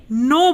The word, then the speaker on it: know: तो इसमें भी एन से पहले क्या आ रहा है, के आ रहा है, इसलिए हम इसे नो बोलते हैं।